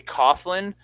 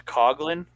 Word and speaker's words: Coughlin: Looks like it should be Coughlin, but it's Coglin.